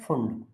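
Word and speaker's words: Pfund: Lyman बामर पाश्चन bracket फुंड। P silent होता है फंड series.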